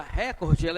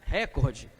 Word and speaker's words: recorde: é uma proparoxítona a palavra record ela é uma paroxítona terminada em vogal é portanto lá não é acentuada à tona que ela é na penúltima e não na antepenúltima então nós não devemos pronunciar recorde porque a marca de oralidade sim o certo é recorde tá por quê porque ela